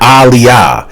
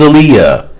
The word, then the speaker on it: Aaliyah: And it's like, dude, why do you keep mispronouncing her name wrong? It's not Aaliyah.